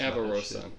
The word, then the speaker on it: Avarosa: i'm saying that there's no way it's everosa because ash has a voiceline that talks avarosa yes is it really no no i'm saying that's that's how you say it okay i was like